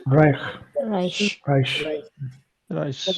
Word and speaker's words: reich: word, guys, there are two combinations. The first combination is EI. How is I. EI pronounced? I. I. I. And I. then we have combination of Uh, CH. Sure. So pronounce it Reich.